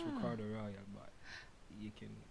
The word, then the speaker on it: Ricardo Rawal: Ricardo Raul.